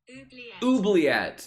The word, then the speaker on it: oubliette: Oubliette.